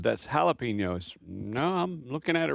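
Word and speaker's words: jalapeño: And she chuckled and said, "That's jalapeno." No, I'm looking at it right here. It's a J. Jalapeno. She said, "Well, in Texas when you see a J oftentimes it's pronounced with an H."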